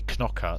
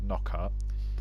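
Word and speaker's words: Knockaert: great Anthony not Anthony Kanaka sorry I've been told it's pronounced knock up so how Anthony could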